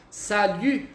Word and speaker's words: salut: Para quem não sabe ainda pronunciar, salut.